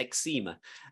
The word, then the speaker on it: eczema: It was about a skin condition called eczema. In America, I think it's called pronounced eczema. And I had that.